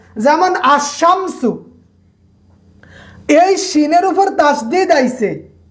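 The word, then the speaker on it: الشمس: যেমন আশামসু, এই শিনের উপর তাসদিদ আইছে, শিনের উপর কি তাসদিদ, শব্দটা দুইবার উচ্চারণ হয়েছে, কিন্তু এখানে এই যে একটা লাম আছে, আল শামসু হয় না, আশামসু।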